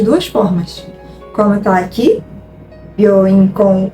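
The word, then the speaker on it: びょういん: Reparem que eu não vou falar byoin. Byoin. Não, a gente não fala, a gente não vai pronunciar esse U. A gente vai falar byoin. É como se o O tivesse um somzinho um pouquinho mais contínuo, tá? Então, byoin. Esse O fica um pouquinho mais longo o som, ok?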